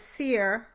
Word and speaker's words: sere: In this case, you need a way of distinguishing between the one and two syllable versions, such as seer, S-E-R-E, meaning dry, and seer, a two-syllable word, meaning someone who can predict the future.